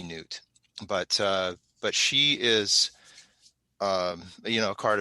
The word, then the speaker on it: Nut: Like N-U-U-T or I think it's pronounced Nut. Yeah. Maybe Newt.